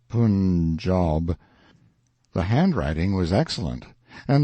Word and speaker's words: Punjab: day from the punjab you must pronounce it pun job the handwriting was excellent